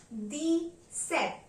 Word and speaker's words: dix-sept: Number 17 will be pronounced in French as dix-sept. Dix-sept. Pay attention here. D means 10 and set means 7. So therefore 17 is pronounced as deez-sept.